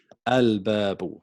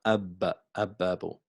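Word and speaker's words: الباب: Al-babu. So it's al-babu, not ab-babu.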